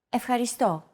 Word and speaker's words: Ευχαριστώ: Ευχαριστώ. Your turn. Ευχαριστώ. Ευχαριστώ. Do you remember this mark here? We talked about it in lesson 2. It's the accent mark, and it indicates that this syllable is stressed.